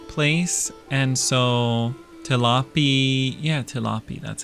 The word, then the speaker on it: Tilapi: Yeah, tilapy.